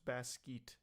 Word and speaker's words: Basquiat: It's pronounced Basquiat.